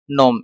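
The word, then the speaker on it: gnome: Next है इसमें अपना जी, साइन और नोम। इसमें भी जी अपना साइलेंट है, इसको भी साइलेंट लेटर में की कैटेगरी में अपन लोग इसको रखते हैं।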